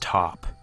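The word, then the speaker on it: Pot: he drew of her her name he says is p-o-t i don't know what that means but it's pronounced top i asked why but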